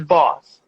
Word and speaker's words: Bawse: the e is silent e is silent yes okay thank you for thanks thanks for clarifying that thank you so much i was like designs like okay i thought that that was what it was like apparently not you're actually not the first person to pronounce it wrong because i think they they're looking at it too hard i'm like don't don't over don't overthink it it's his boss okay okay i understand